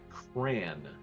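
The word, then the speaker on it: Cránn: The village is named Cran, like cranberry, but it's spelled C-R-A with an accent over it, N-N.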